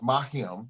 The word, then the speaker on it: Mariame: name the right way, so it's Mariame. That's the correct pronunciation.